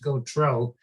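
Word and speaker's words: Gauthreaux: his name is pronounced go troll because he's from louisiana and the h is silent in french for what it's worth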